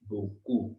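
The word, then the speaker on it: beaucoup: क की साउंड आएगी, और ओजू इन फ्रेंच इट इज ऊ, ऊ, सो इट is Messi बोकू, बोकू, पी हमने प्रोनाउंस नहीं करना लास्ट में, सो इट is Messi बोकू, Messi बोकू, Messi बोकू, okay.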